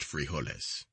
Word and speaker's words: frijoles: dinner or supper is frijoles pronounced frijoles consists of beans brown